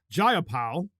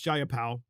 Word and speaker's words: Jayapal: are, of course, Representative Jayapal. I believe that's how you say her name. It's either Jayapal or Jayapal. I think it's Jayapal.